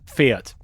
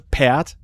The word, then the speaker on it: Pferd: German word for horse, that is Pferd in High German, and it's quite similar in Low German. And the Sächsisch people or Westfälisch people, they would not pronounce the F.